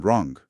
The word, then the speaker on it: wrong: Y lo mismo pasó con otras letras que hoy son mudas, pero antes sí sonaban, como la K en night o la W en wrong.